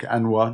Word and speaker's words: Anois: It's called Anish, which is spelled Anois, kind of like Anwa nearly.